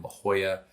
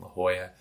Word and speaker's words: La Jolla: amazing community in all of San Diego in La Jolla.